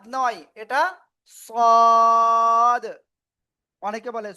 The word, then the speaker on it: صاد: জিহ্বার agar সামনে নিচে দুই দাঁতের পেট ও আগার সাথে লাগিয়ে মোটা আওয়াজে পড়তে হবে। সাদ নয়, এটা সদ। অনেকে বলে সোয়াদ, না, এরকম উচ্চারণ হবে না, সদ।